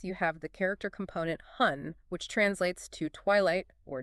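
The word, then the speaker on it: 婚: If you look at the Chinese character for marriage, which is pronounced hun, you don't just see a word, you see an argument.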